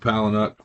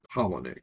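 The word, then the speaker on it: Palahniuk: I I always call him Palanuk. Chuck Palanuk but it's actually Pollenic because I read somewhere it's like Pollenic.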